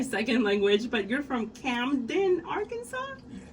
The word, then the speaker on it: Camden: And then you're from, and I'm Mexican, so English is my second language, but you're from Camden, Arkansas? Yes. How do you pronounce that? Oh, you said it right, Camden?